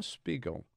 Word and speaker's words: Spiegel: they worth um Spiegel listen the pronounce it correctly you got pickles pickles like wiggle with an SP we go I'm Spiegel